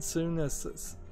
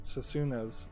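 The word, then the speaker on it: Senua: Next we have Hellblade Suna's Sacrifice. Or I was always mispronouncing it Susuna's Sacrifice, but it's Suna, S-E-N-U-A.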